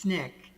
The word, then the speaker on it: SNCC: student nonviolent coordinating committee sncc pronounced snick formed by leaders of